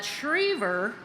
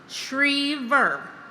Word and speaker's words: Schriever: is pretty straightforward, but Schriever does not have a W sound in it. Think Shreveport, Louisiana, Shreve, and then think the last syllable is pronounced ver, like beaver, Schriever.